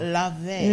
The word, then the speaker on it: Laufey: It's Icelandic. Okay. Law sounds like lay, and Fey sounds like vey. So Laufey. Laufey.